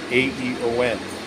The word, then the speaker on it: AEON: I'm inside the AEON, pronounced Aeon Mall.